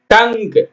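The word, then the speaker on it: tongue: ஓ ஜி டய lock dialogue டயலாக்னா என்னங்க வசனம் டங் டங்க்னா நாக்கு டி ஓ என் ஜி யூ இ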